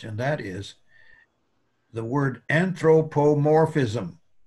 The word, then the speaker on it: anthropomorphism: that is the word anthropomorphism right let's have a spell it out in syllables anthropomorph that's big letters means the accent is there morphism now i want you all try to say it anthropomorphism anthropomorphism good now what